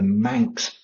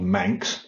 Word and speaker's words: Manx: The currency is the Manx pound, so it's pegged, it's kept on a